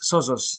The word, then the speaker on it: Sozos: oh that's fine uh it's it's sozos so um very like zoso but the other way around oh yeah exactly yeah